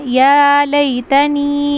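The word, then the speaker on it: يَا لَيْتَنِي: Next आयत है यकूल या लतनी कदम त हयाती बहुत ईजी लाइन है। बहुत ही ईजी आयत है। यकूलु लाम को जल्दी पढ़ना। या लतनी इसको खींच लेना।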